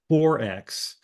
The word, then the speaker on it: XXXX: the book uh for XXXX which is pronounced 4X um and this derives